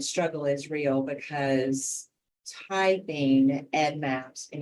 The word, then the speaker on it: EDDMapS: we love to hear Ed Maps um Ed Maps is something that happens a lot we're not too much a fan um and then there's no s in between Ed and Maps um so um consistency